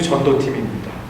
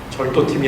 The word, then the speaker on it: 전도팀: 이분은 부부 전도팀입니다. 발음에 주의하셔야 됩니다. 절도팀이 아니고요. 부부 전도팀입니다.